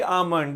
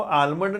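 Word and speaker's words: almond: Daily आमंड, daily आमंड। इसको आलमंड नहीं पढ़ना, एल साइलेंट है, बच्चे इसको आलमंड पढ़ते हैं अक्सर, actually should be pronounced as आमंड।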